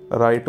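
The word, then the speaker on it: write: इन the following words राईट silent words W आहे पुन्हा राईट second जी silent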